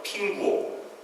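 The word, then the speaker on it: 苹果: 중국말로는 사과라고 부르지 않고 평과라고 불러요. 핑구오. 화평할 때 평자와 아주 비슷한데 약간 다릅니다. 발음은 거의 비슷하죠.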